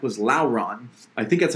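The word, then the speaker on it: Llauron: character i like was lauren i think that's how you pronounce it um i pronounce like lauren like sauron but lauren was an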